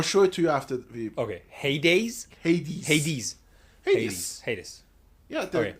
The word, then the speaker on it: Hades: king of underworld oh Hades I got it okay Hades Hades Hades okay I got it the reason I I say it like that is because of Hades town you know that heavy